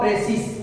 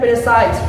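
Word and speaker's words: précis: बहुत विद्यार्थी इसको बोलते हैं प्रेसिस, बहुत बोलता है इसे प्रेसाइज, बहुत बोलता है कुछ से कुछ बोलता है, ठीक।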